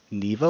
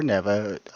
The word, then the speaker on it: Neva: There is contention on how it's said, so you can say Neva or Neva. Um, I personally say Neva, but I've also heard people that are making this game call her Neva, but I've also heard